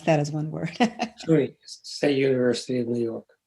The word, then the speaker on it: SUNY: How do people pronounce that as one word? SUNY, State University of New York.